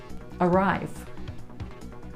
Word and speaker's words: arrive: Arrive. Arrive. So this word begins with an A. That's right, it's at the beginning.